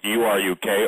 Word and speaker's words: Uruk: And it's from 12 tablets from Uruk, U-R-U-K, or some people pronounce it Uruk.